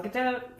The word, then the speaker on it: Gadot: Rhymes with boat. Gal Gadot.